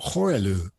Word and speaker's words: Horellou: I think it's Gaël Horellou. Unless you can correct me. Yeah, here. Yeah, Gaël probably. Yeah. Horellou, I guess. Horellou, yes.